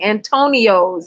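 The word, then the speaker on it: Antonyos: Antonio's, yes. I think they took the word Tony, and then they added the, you know what I'm saying? And make it kind of colored.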